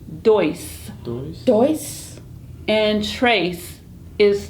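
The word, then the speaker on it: três: And trace is 3. Trace. Trace. It's kind of close to the French words. It sounds kind of like them.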